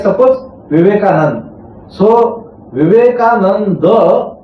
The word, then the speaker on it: Vivekananda: In the Sanskrit word like suppose Vivekananda. So Vivekananda that last a they do not pronounce it fully. Vivekananda.